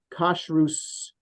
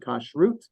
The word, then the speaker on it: kashrus: it's still published, called Kashrus magazine. I would pronounce the word kashrut, but in old-fashioned Hebrew, it's kashrus, and that's how it's spelled in English.